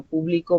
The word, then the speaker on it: publico: público entrevista el día de hoy hoy yo publico mi tarea el día de hoy estoy hablando